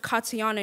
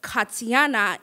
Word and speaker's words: Katiana: And why is my name pronounced Katiana in English but Katiana in Haitian Creole?